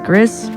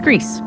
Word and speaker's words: Gris: for a lot of people they would usually pronounce this game as Grizz but yeah it is Greece foreign are now we're going to get